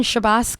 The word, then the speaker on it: Chbosky: legend in my eyes and many others Steven shabos my pronouncing that right you are indeed and it